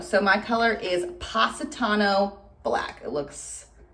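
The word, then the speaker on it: Positano: to haley for letting me know how to pronounce it wait say it again pasitano so my color is pasatano black it looks like that satano were you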